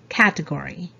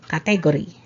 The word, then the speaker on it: category: pronunciation is category category so there's uh stress on the first syllable category not category okay good number 18